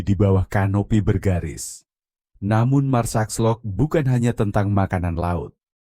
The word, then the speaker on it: Marsaxlokk: Terletak di pesisir tenggara Malta, desa nelayan Marsaxlokk, diucapkan Marsaxlokk, adalah tempat di mana tradisi hidup dalam warna-warna cerah.